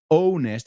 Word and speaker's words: honest: And fijaos, la pronunciación no es honest o honest. It's honest. Honest. Es una A pura y dura. Y la H es muda.